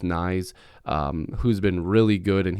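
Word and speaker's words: Knies: he definitely could um matthew nyes i believe that's how you properly pronounce it i've heard some people say it differently but i'm pretty sure it's nice who's been really good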